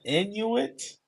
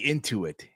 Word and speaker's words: Intuit: The Inuit? it was wow. What the fuck is that? What's the okay? How do you pronounce it? Inuit, Into it. Into it. the Intuit. I'm sorry, the Intuit Dome.